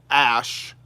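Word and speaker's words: Æ: I do believe his most recent child was named X Ash A12, and the reasoning behind this was X is the unknown variable in both, math and science.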